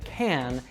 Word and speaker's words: can: So the weak form of can is usually pronounced with a schwa sound.